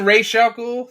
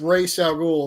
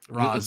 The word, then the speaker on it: Ra's al Ghul: Don't you mean Ra's al Ghul? They say it wrong. Yeah, it's Ra's al Ghul. They always say it wrong in this, and it bugs me. Ross.